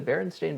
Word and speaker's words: Berenstain: Are you familiar with the Berenstain Bears? Spelled this way, S-T-E-I-N, yet pronounced stain?